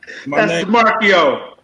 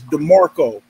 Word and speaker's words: DeMarco: Marcio. Brother, hold on. Let me tell you how to correctly say my name. My fault. Go ahead, brother. Is it saying it right? It's DeMarco. DeMarco.